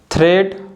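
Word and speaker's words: thread: द letter A इज not pronounced in द combination of EA। जो letter ए है अगर ई के बाद आता है तो ए को हम नहीं बोलते हैं, ए साइलेंट होता है।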